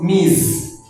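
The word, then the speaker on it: Ms: Nous avons aussi mise ici on prononce mise.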